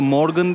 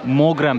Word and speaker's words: Mogren: Bu arada Morgan değil, Mogren plajıymış. Adını yanlış telaffuz etmişiz. Mogren plajı.